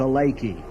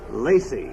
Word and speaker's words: Lacey: I always listen to Lakey. Lacey. It's pronounced with a soft C.